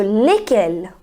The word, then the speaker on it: lesquels: And the fourth one is again lesquels, which has the same pronunciation, lesquels and lesquels, but now the fourth one contains double L E S. So while writing it makes a difference, but while speaking it is same.